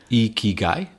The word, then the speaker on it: Ikigai: You're going to pronounce it better than me, Jeff, because you spent time living in Asia. Ikigai?